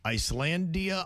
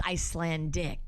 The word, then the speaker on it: Icelandic: The problem was we had a mispronunciation on the Icelandia, I believe it is, and you said Icelandic. I said Icelandia. It's Icelandic. Gotcha, okay.